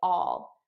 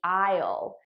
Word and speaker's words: I'll: Notice how I'm actually saying all, which is the unstressed pronunciation. The stressed pronunciation would be I'll, but naturally I would just say all.